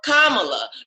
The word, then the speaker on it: Kamala: say her name right spell the word comma and then say love right so kamala because i'm not even